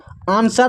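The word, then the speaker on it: answer: जैसे यहां पर देखिए आंसर आंसर में जो है एस के बाद डब्ल्यू है तो डब्ल्यू सैलेंट है। साइलेंट है।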